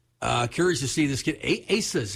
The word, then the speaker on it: Asa: Asa's how you pronounce it, right?